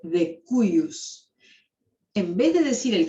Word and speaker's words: de cujus: ¿Saben lo que quiere decir de cujus? Nunca lo pronuncien de cujus porque está mal. Esto se dice de cuius.